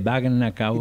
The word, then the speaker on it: bagna cauda: Baña cauda, que se escribe con G, Bagna cauda.